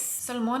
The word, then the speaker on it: Solmane: and a great surprise salmon is the way that angelica nyqvist is pronouncing it i'm still probably butchering